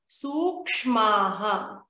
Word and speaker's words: सूक्ष्माः: Te prati prasava heyaha sukshmaha. Here, let us make sure to pronounce this part perfectly. Sukshmaha. We need to make sure we get the K and the S dot.